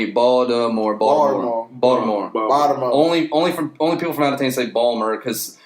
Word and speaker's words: Baltimore: Baltimore.